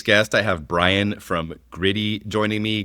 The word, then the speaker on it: Griddy: I have Brian from Gritty joining me. Gritty, not to be confused with the Philadelphia Flyers mascot, spelled differently, they're pronounced the same.